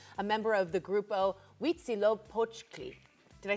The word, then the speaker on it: Huitzilopochtli: Highlands, and Daniel, a member of the Grupo Huitzilopochtli.